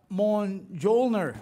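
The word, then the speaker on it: Mjolnir: okay so it's time to play spin the mon jolner did i say it right perfect yeah perfect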